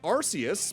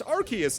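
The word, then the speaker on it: Arceus: exactly accurate given apparently I remember the one movie pronouncing it Arus, but apparently it's Archus nowadays.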